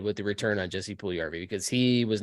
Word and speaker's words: Puljujarvi: So let's talk a little bit about the Jesse Pujujarvi trade, or as he pronounced his name when he was meeting with Carolina media today, Jesse Pujujarvi. He was trying to pronounce